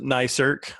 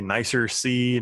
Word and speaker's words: NICERC: And we pronounce it NICERC. A lot of people say NICERC, NICRIC.